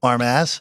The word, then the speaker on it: Armas: Jeff Tony armas we'll say the last one like armas yeah there you go